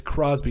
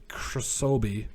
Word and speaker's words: Crosby: We'll say average, but it's Crosby, not Krosobi.